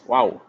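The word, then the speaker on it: Wau: designed Malaysian kite called Wu its wings are similar to an Arabic letter pronounced as wow this skite making tradition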